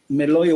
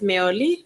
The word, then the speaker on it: Meoli: I listened clearly to what Justice Meloy was reading, and I was just saying, Meoli. And if you want the correct pronunciation, it's Meoli.